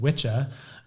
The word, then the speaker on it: Wicca: is that witch and Wicca which is actually pronounced witch ax WI CCA from male and WI CC female